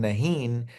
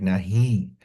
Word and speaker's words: नहीं: is like nasal without, it's not pronounced as a complete. So it's like nahi. And in modern Urdu, it is written without the dot, which is called noon-e-gunna, which means that the noon is not completely pronounced. It's just like a nasal sound, nahi.